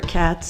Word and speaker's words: Katz: My name is Katz. That's spelled K A T as in Tom.